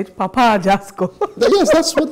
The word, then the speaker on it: Papa Ajasco: I like how you say it, Papa Ajasco. Yes, that's what it's called, right? Papa Ajasco.